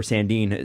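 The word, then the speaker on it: Sandin: I think the way Rasmus sinned and has played or Sandeen now because they've changed his pronunciation again so Rasmus and Dean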